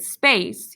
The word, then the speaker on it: space: If you're pointing to the word space, you're correct. C in the word space makes the soft sound S because it's followed by an E.